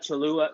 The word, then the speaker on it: Cholula: But I also like Cholula.